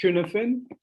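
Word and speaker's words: Cynefin: there's a framework called cuneifin framework which is shared here in the chat it's i think it's irish or welsh i'm not sure it's it's pronounced cuneifine um and it's a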